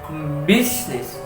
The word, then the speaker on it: business: Jika di Indonesia diartikan bisnis, tapi di dalam bahasa Inggris pengucapannya adalah business.